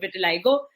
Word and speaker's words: vitiligo: And I was diagnosed with vitiligo, or as some people across the world pronounce it, vitiligo, when I was 18.